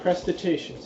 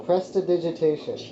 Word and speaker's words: prestidigitation: say roll a d20 it's not prostitution press or agitation that's how it's spelt that's the digitation what did you say what did you say it was prostitution no prestidigitation press prestidigitation yep nothing okay what's your